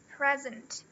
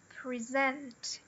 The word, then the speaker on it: present: Então fica present. present. Aqui no verbo, ele até muda a pronúncia por causa disso. Ele fica, ó, present. E o marcador, ele tá aqui, ó, antes do Z. Present.